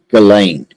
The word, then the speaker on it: Ghislaine: They say Ghislaine. Just for laughs, I'm just telling you that's how they pronounce it, Ghislaine. right, like something silent or whatever.